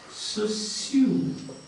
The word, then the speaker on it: Saussure: See, that word is pronounced like this. Saussure.